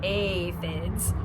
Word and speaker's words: aphids: It was a pretty sad day when the aphids, pronounced aphids, arrived.